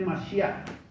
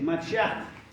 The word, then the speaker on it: Mashiach: es la Biblia original, encontramos que es incorrecto esta pronunciación de Mashiach. Escuche, Mashiach, con J. ¿Por qué? Porque la J es una de las letras que el hebreo no la reconoce, no existe. Entonces, es Mashiach. Mashiach. Se pronuncia la H como la H en inglés.